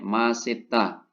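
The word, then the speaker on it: 맛있다: Ya sesuai rumusan ya S ketika di bawah dibaca t ketemu vokal naik Masita tapi untuk yang tidak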